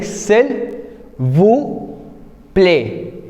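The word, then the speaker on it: s'il vous plaît: सिल वू प्ले again if you will C एस इज a consonant so वी आर नॉट ट्राइम to pronounce S वी are keeping it साइलेंट सो वी are saying सेल व प्ले सिल वू प्ले इन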